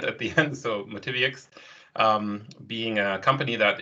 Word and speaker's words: MotiviUX: that yx uh sound at the end so motivix um being a company that is uh interested